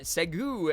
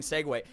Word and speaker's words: segue: join in fun fact for years I saw Segway and thought it was pronounced uh segu and then people said it out loud we're saying segue yeah my favorite thing